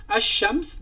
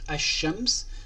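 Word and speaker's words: الشمس: Donc lui, il n'exige pas, ou bien il exige qu'on ne prononce pas le L de l'article L. Par la suite, ash-shams, donc on ne prononce pas le L.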